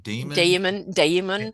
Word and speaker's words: daemon: How do you pronounce that? Is that Damon? Damon.